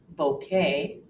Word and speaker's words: bouquet: are several more exceptions another one occurs and words that come from the French language where we actually hear the long a sound for example Buffet ballet bouquet croquet Ricochet beret Americans